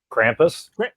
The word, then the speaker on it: Krampus: Okay, I want to hear how everybody pronounces this movie's name. Krampus. Krampus. That is not how they. That is not what they call him. Krampus is how they say it. Yes, sure. Yes. That's because we're not German.